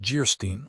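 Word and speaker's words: Geierstein: An of Jerstein pronounced Gerstein, or the maiden of the mist by the author of Waverly.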